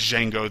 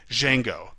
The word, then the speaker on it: Django: and then he says Django the D is silent while the conversation in the movie is more like this what is your name Django spell it DJ Jay